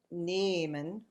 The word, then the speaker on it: nehmen: And an H at the end of a syllable, well, this is kind of it's silent, so that's one of the things, and it's also making these vowels long. So, nehmen and froh, nehmen, froh. So it's silent, but it's making the vowel long.